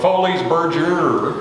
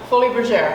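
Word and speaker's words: Folies Bergère: in a show and i'm going to pronounce it from texas it's the foley's berger but in french it's actually what fully exactly it was a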